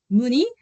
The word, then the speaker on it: Mooney: that you know what my name is Mooney but it's pronounced like moon in the sky for example like that.